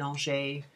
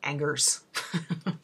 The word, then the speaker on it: Angers: It's Summer in Angers, and Angers is spelled like Angers.